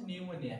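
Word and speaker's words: pneumonia: হচ্ছে নিউমোনিয়া এটা হচ্ছে পি পি এন ইউ এম ও এন ই এন নিউমোনিয়া নিউমোনিয়া হচ্ছে ল্যাটিন শব্দ এইজন্য এন টা উচ্চারণ আমরা করি নিউমোনিয়ার এন কিন্তু তার উপরে ইন যুক্ত থাকে ঠিক আছে সবাই বুঝতে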